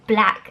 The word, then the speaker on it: Blaq: two products from a brand called black I think it's pronounced black is BL aq it was a facemask